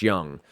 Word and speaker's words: Jung: Do we get a pronunciation? It says Young, so Josh Young.